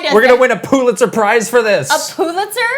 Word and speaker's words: Pulitzer: P-U is how it's spelled. Excuse you. Pulitzer.